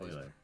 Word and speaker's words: Euler: Is that how you pronounce that word? Euler? No, it's Euler.